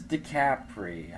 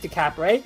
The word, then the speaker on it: DiCapri: Hypergage's past to Hypergage's future with, Painwheel versus DiCapri. I think that's how you pronounce it. I don't know. Yeah, I don't DiCapri.